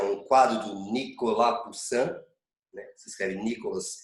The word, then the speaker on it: Poussin: Aí vocês têm uma imagem, que é um quadro do Nicolas Poussin, né? Se escreve Nicolas Poussin, mas é Nicolas Poussin, Vejam este francês quase belga, né?